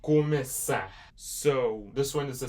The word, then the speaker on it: começar: So yeah, so you're pronouncing it começar. So this letter is here, s, começar. It makes it more like an S sound because it has a cedilha.